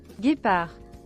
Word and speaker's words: Guépard: Guépard.